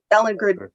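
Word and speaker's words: Ballingrud: Ballin Grood.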